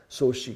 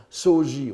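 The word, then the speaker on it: 荘子: Soshi, qu'on prononçait souvent Soji autrefois, et maintenant la mode sinologique japonaise tend à prononcer Soshi. Je préfère Soji pour ma part, mais suivons la mode.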